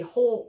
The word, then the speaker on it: whole: And when we talk about a whole note, we spell it a little bit funny. There's a W on the beginning of it. It's spelled W-H-O-L-E. Whole note.